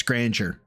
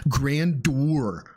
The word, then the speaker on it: grandeur: He still says it despite every pronunciation, every every person saying, "Dude, it's grandeur. It's grandeur." Nope. I was a validictorian. Grandur I I don't get it.